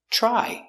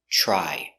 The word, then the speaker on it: try: and they fixed it pronunciation try you have TR together it makes the CH sound like chicken so together try I tried to fix